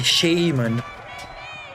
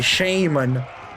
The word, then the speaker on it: shaman: A shaman, like the Americans say, a shaman. No, it's a shaman.